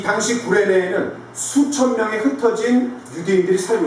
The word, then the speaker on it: 구레네: 여러분, 구레네를 발음을 잘해야 됩니다. 어디라고요? 구레네. 예, 구린내가 아닙니다.